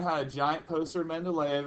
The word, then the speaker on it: Mendeleev: first guy is dimitri mendeleev that's not pronounced men to leave i know there are two e's towards the end of that name let's pronounce not leave